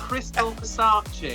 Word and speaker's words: Crystal Versace: you doing hello i'm good thank you you pronounced it wrong it's crystal versace oh yes okay wait hold on hold on